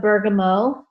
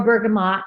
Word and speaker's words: bergamot: drops of wild orange, 2 drops of bergamot, or bergamot, depending on where you are in the country. It's a French word, and they drop the T, but it doesn't matter how you say it, potato, potato.